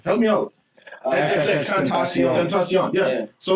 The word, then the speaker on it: Tentacion: How do you pronounce his name? Help me out. Tentacion.